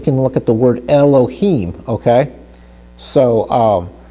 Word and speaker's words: Elohim: look at the word Elohim, okay? So Elohim, we see that the Sharik is under the Hey. So Elohi, he. It almost makes kind of an I sound, but it's an E sound.